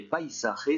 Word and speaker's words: paisaje: Par contre, faites attention, en français on dit paysage, en espagnol on prononce le A comme un A, le I comme un I, et on ne zozote pas sur le S. Ça donne paisaje.